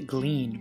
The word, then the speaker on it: Glenn: is Jefferson's right-hand man Glenn pronounced the gleen for some reason played by Italian actor